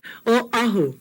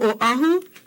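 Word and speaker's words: Oʻahu: Oahu. We come from Oahu. Our Okina is here. Oahu, okay?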